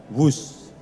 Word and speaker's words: Whoosh: sistem hebat sekali lagi w h o o s h tapi membacanya wus selain memiliki nama yang